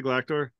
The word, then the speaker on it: Galactor: known as galactor am I saying it correctly galactor yeah yeah all right Galactica perfect um another